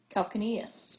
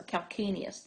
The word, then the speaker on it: calcaneus: Now another thing I want to look at is you've heard of calcaneus or calcaneus, depending on how you want to pronounce it.